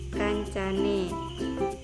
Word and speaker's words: kancane: Contohnya konco plus ne, jadi bacanya itu kancane.